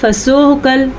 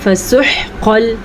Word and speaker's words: فَسُحْقًا: اگر آپ اس کو پڑھتے ہیں فسحقل یا فسحقل تو غلط ہے. اس کو پڑھنا ہے فسحقل موٹا قاف.